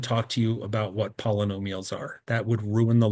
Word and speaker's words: polynomial: Some people don't pronounce like poly, they say pola. So like polynomials is a common way to just let that roll off the tongue.